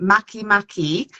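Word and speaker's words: Makemake: we have Eris and then we have um Maki Maki which is spelled it's written make make but pronounced Maki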